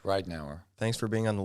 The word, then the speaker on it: Ridenour: Ridenour is how you pronounce it, right? Yeah, that's correct. Ridenour.